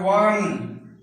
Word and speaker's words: one: आप देख रहे हैं यहां भी आप ध्यान दीजिएगा, इनका उच्चारण ओ से शुरू है लेकिन हम पढ़ते हैं वन।